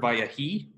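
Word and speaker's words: ויהי: wrote on the board, vayahi. This is a skinem levi. They've been nice enough to insert the metheg there right by the vav to remind you that this is its own syllable, va.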